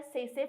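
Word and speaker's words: tsetse: Trypanosoma gambiense जो है इसका होस्ट ह्यूमन है, और इसका सेकेंडरी होस्ट जो है वो है सेसे फ्लाई। टी जो है साइलेंट है, और साइंटिफिक नाम जिसका है ग्लैसिना पैल्पेलिस, ठीक है।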